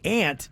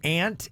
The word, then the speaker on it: aunt: And somebody else texted in and said, yeah, I say aunt too, and I've always wondered. I was born and raised in South Florida. My mom is from Miami. So when we asked, is it aunt, A-N-T, basically in the